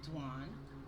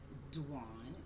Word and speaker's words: Dwan: My name is Dwan, DWN. It is pronounced like Juan with a D, Dwan, DWN.